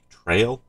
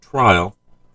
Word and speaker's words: Trail: Dom try to try trail trail it's not trial I can mispronounced it